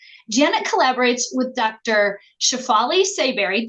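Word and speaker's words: Tsabary: collaborates with Dr shafali seberry did I pronounce that right how do I say that sabari but you could even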